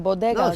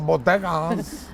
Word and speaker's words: bodega: Why do you say it like that? How you How do you say it? Bodega. Bodega. Bodeas. The bodeas. The bodega. You don't have a Spanish accent in anything else you say.